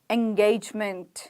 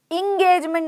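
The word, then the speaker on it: engagement: English में बोलिए 11 एंगेजमेंट इंगेजमेंट नहीं है इंगेजमेंट नहीं है एंगेजमेंट इंगेजमेंट इंगेजमेंट इंगेजमेंट इंगेजमेंट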